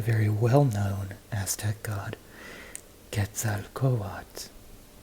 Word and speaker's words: Quetzalcoatl: well known Aztec God gets out of coal odds see how you pronounce the L here but not the L at the end again gets out coatt longer na what words